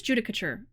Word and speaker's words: judicature: help me judicature judicature okay it is judicature I I've never heard this word before like caricature I guess so judicature okay part